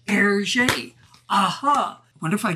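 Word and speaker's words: Hergé: remy and george remy if you reverse the initials rg in french that's pronounced yes you guessed it erget aha i wonder if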